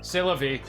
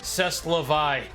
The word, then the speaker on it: c'est la vie: once you hit 25 but that's that's life c'est la vie or as I would pronounce it back and back in my younger days cess la vie goes right up there with Dawn quick so